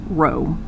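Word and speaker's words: rho: is by the way the Greek letter row it's how it's pronounced but it stands for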